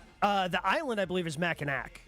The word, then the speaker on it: Mackinac: I could not recommend going to Mackinac Island enough. No cars on the island. The island, I believe, is Mackinac. No, I think so the city, there's a C on the end.